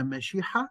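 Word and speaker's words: מְשִׁיחָא: المسيح المسيه هي كلمه من الفعل العبري مشياح او مسيح في اللغه العبريه وبيقابلها بالاراميه او تنطق بالاراميه مشيحه مشيحه مشيحه وعن اليونانيه نقلت الى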